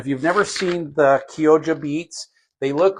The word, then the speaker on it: Chioggia: So I actually don't mind the Kyoja, and that's how it's pronounced. It's pronounced Kyoja, but it's spelled Chioggia. It's Italian, so it's pronounced Kyoja.